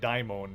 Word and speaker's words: Daimon: want to like nitpick my pronunciation of diamond i guess technically it should be like daimon because it's like a greek name or whatever it originally came from uh i need to